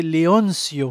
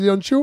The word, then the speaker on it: Leoncio: Le C se lit comme en français. Donc, c'est Leoncio. Leoncio. J'ai dit quoi? J'ai dit Leoncio? Oui. Tu l'as prononcé à l'italienne.